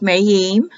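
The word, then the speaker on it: מַיִם: to Waters the word Hebrew word for Waters mahim the eye is pronounced like an e so it gives you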